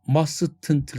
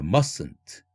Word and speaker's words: mustn't: 발음 기호 자체가. 마지막 단어 mustn't가 아니라 mustn't.